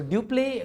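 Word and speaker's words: Dupleix: French government you play you remember duplex we pronounce it as duplex so duplay was the main person or main brain behind this policy he used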